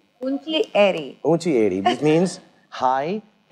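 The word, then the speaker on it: ऊँची एड़ी: Unchi edi. Unchi edi.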